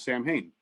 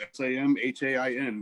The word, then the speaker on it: Samhain: what it was because you read it as samhain well yeah it was a really great band with glendale uh but sally yeah um mean it's spelled s-a-m-h-a-i-n but it's pronounced samhain and you know that's